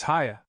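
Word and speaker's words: Haigha: His name is Haya. He pronounced it so as to rhyme with mayor.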